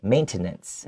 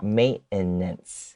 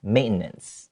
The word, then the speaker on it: maintenance: at the word maintenance the t in this word does not need to be pronounced okay you can you can say maintenance but it just doesn't